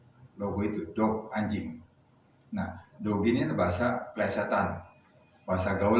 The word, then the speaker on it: Doge: Bacanya bukan dogi maupun doge, tapi bacanya dogi. Jadi ini perlu kita luruskan. Kadang masih banyak yang membaca itu doge atau doge. Jadi di sini sudah saya pastikan bahwa doge itu dibaca dogi.